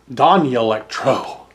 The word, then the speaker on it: Danelectro: the N which means it's pronounced with a Y sound and so they're saying that it's pronounced Don Electro or D or danelectro